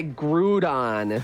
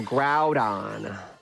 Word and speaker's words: Groudon: you don't oh yeah I bet you say groon instead of Groudon there's a lot of